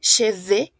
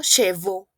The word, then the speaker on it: cheveux: Alors, dans ce parti, chicos, c'est très important la prononciation. Aquí es muy importante la pronunciación de cheveux. Oui, cheveux y no chevaux. Porque si ustedes me dicen chevaux, estamos diciendo esto. Chevaux, es decir, caballos. ¿D'accord? Es lo mismo que en español, cabellos, caballos, ¿verdad?